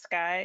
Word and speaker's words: CXAI: So, CXAI, pronounced Sky, is a um as Neil mentioned, publicly traded company here in the Bay Area.